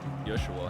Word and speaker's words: Yeshua: Yeshua, how they pronounced it.